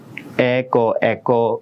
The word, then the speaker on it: এক: ক ফুল আছে, কিন্তু আমরা উচ্চারণ করার সময় কি বলি, বলি, এক দরস্যকার রস্যই দুইয় এভাবে বলি না, তাহলে কি বলি, এক বলি। তাহলে যেহেতু উচ্চারণের সময় আমরা অ উচ্চারণ করি না, এই জন্য এখানে হসন্ত দিয়ে দিলাম, অটা উচ্চারণ হচ্ছে না, ওই জন্যই হসন্ত দিয়ে দিলাম এক।